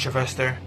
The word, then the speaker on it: Jilvester: 'cause I was having trouble reading his name, but I believe it's pronounced Jilvester, or Joe for short, as they call him.